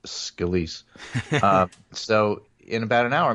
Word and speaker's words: Scalise: I'll just I think it's pronounced Scalise.